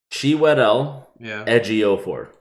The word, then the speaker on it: Chiwetel Ejiofor: You want to know how to properly pronounce his name? What? Chiwetel Ejiofor.